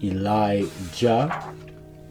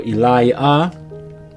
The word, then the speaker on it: Elijah: So Elijah, the I, A-H represents a J, A-H. Elijah.